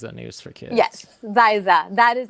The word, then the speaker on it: Xyza: bottom here is a news for kids yes zaisa that is how you pronounce it too am i saying it right